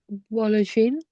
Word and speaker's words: boulangerie: Où est la boulangerie?